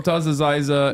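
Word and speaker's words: Motaz Azaiza: Motaz Aziza Motaz is Aziza, I was right.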